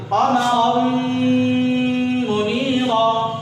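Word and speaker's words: قمراً منيرا: را میم زبر رم، یہ الف نہیں پڑھا جائے گا، الف صرف لکھنے کے لیے ہے، الف پڑھا نہیں جائے گا، ٹھیک ہے۔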